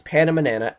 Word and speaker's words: PandaManana: If you speak Spanish, it's the same but pronounced differently, without the doink over the N. So it's PandaManana, at PandaManana on Twitter.